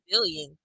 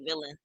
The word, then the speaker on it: villain: Summer said she got booed because she's a villain, but she pronounced it wrong. She's a villain. Billion. She's trying to say villain.